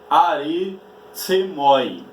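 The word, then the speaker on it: ἀριθμοί: Então, na língua grega, a palavra números pronuncia-se aritsemoi, que por sua vez, no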